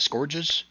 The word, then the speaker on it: scourges: There's an array of torture devices, including whips, mallets, barbed scourges. Scourges? How do you say it? Scourges?